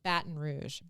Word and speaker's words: Baton Rouge: thing called Baton Rouge, spelled like rouge on your cheeks, for like it was drag queens and playing softball. Okay. So it was a Baton. bat and Like rouge. Battin. Yeah. Baton. Baton Rouge.